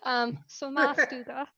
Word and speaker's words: Sommarstuga: How do you pronounce the title? Uh I've been training for this moment. Sommarstuga.